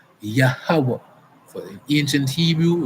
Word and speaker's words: Yahweh: Right, and so the tongue, the pronunciation of the Most High's name is Yahweh.